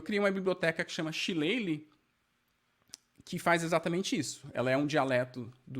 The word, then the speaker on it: Shillelagh: Shillelagh é uma palavra irlandesa, né? Por isso que ela tem a pronúncia tão distinta da grafia.